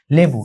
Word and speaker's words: লেবু: একটু মানে অন্যভাবে উচ্চারণ করলা, মানে বিকৃত করে উচ্চারণ করলা, সেটা যেমন হচ্ছে লেবু, ঠিক আছে? লেবুরে আগে তোমার হচ্ছে বলা হয়তো নেবু, অনেকে বলতো নেবু।